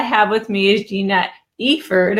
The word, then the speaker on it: Eiford: with me is Gina Eiford. I had to make sure it was Eiford, not Eiford, because she was just telling me she has a client with the same spelling who pronounces it Eiford.